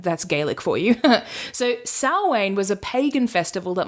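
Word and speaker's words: Samhain: anyone who wants to Google it but it's pronounced s way which like that's gaic for you so sne was a pagan Festival that marked the end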